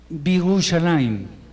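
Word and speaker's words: בירושלים: Entonces, si yo quiero decir y Jerusalén, y ahí simplemente, bueno, la otra cosa es que se quita esta vocal y queda Birushalayim. ¿Se acuerdan de la palabra min?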